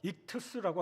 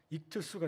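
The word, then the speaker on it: ἰχθύς: 물고기를 헬라어로 익투스라고 합니다. 발음하면 익투스가 돼요.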